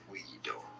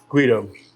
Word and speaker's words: Guido: So in Italy, it's said as Guido. Guido.